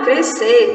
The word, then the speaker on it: crescer: muitas vezes o som, sabemos que o som do S, nós não dizemos crescer, separando sílabas, dizemos crescer, parece até que o S não existe.